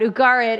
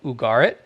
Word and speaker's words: Ugarit: about the site of ugarit uh although some people pronounce it ugarit uh i i think most most of the ugaritic scholars like the u sound at the beginning from what i from